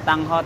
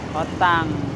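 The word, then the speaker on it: Tanghot: Nah, ini bacanya tang hot teman-teman. Jadi kalau nanya jangan hot tang. Tang hot itu kentang hot dog.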